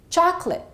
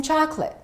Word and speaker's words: chocolate: will give you that have these disappearing vowel sounds and therefore one syllable gets eliminated repeat after me chocolate I'd like some chocolate this also happens with